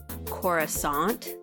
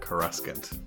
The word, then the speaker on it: Coruscant: married extremely important question why is it pronounced chorus aunt cuz I mean it should be Doug and I also